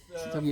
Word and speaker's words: Seithogei: Remove the E. Ah, The E will confuse your pronunciation.